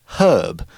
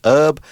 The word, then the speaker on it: herb: can also be pronounced herb usually if you are from the US you won't pronounce the H you'll say herb and people from Britain